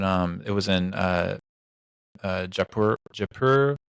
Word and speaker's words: Jaipur: else um but um it was in uh japur japur Jaipur I think is how you say it Jaipur